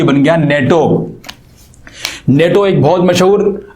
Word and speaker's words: NATO: तो इस तरह की एब्रीविएशन को हम लोग कहते हैं एक्रोनिम, क्योंकि इसे हम NATO नहीं पढ़ते बल्कि इसको हम नेटो पढ़ते हैं, यानी कि बतौर एक मुकम्मल वर्ड के प्रोनाउंस करते हैं।